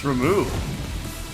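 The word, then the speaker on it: Ramuh: Okay, it's Ramu. There's like 18 different ways you can put the accents on the different syllables there.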